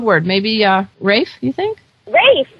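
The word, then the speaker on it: Ralph: Rafe, that sounds great. And it's spelled R-A-L-P-H.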